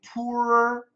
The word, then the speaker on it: poorer: So this is where, for standard American pronunciation, you need to master the R sound. Poorer, mirror, murderer, harrier, or something like that. So it's just a r.